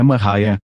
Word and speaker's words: Maria: Maria, cuja pronúncia é Mariah, nasceu em 1844 em uma fazenda de Lisbon, Ohio.